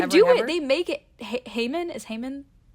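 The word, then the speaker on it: Haman: But I feel like Haymon is not how it would be pronounced in the Middle East. Definitely. Yeah. Yeah. Probably Hmon.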